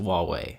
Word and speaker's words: Huawei: changing here very soon their name looks like Hawaii but I can assure you it's pronounced Huawei just throwing that out there